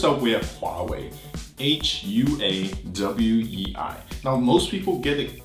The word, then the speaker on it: Huawei: man so first up we have far away hua w/e I know most people get it kind of right but not quite they say Wally Wally Wally Wally you hear it they say